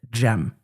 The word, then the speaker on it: Cem: And because we can't we I say it is hard when it is spelled CM for most people to look at it and pronounce it gem.